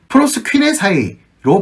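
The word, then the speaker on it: προσκυνῆσαι: 또 이 경배하다가 2절에서 사용되었는데 경배하러 라고 쓰여져 있는 이 단어의 헬라어는 프로스퀴네사이로 발음합니다. 프로스퀴네사이는 능동태 동사입니다.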